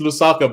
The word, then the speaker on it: Lusaka: and it's Lusaka.